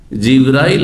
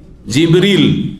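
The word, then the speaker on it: جبريل: ওহী নিয়ে আসে কে জিব্রাইল আলাইহিস সালাম জিব্রাইলের নামের দুটো উচ্চারণ রয়েছে জানেন না জানেন না আমাদের দেশে শুধু জিব্রাইল উচ্চারণটি প্রসিদ্ধ তাই না কিন্তু হাদিস কোরআনে কি রয়েছে জিবরীল কি রয়েছে জিবরীলা মিকালা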